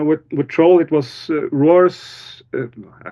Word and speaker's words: Roar: with troll it was Roars it's always fun to say his name in English because it's Roar and it's very fitting for a troll movie uh but you talk